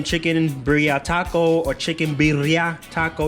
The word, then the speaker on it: birria: burrito taco or chicken biryani taco you gotta roll your tongue with it double ours hopefully i'm saying it